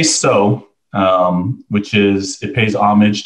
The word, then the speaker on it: Tso: Yeah, you know, we get Tso a lot and Chow a lot. We say Tso, which is, it pays homage to General Tso Chicken, or General Tso in general.